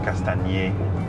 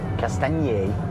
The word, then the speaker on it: Castagniers: There is a charger in Castagners. Castagners? Castagners. Am I saying it wrong? No, you're pronouncing the G, and you don't need to pronounce the G.